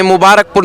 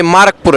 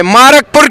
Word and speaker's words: मारकपुर: हम इस गांव का नाम हम गलत प्रोनाउंस करते हैं। मुबारकपुर नहीं है। ये मारकपुर है। तो हम एक और बार कहेंगे मारकपुर की जय।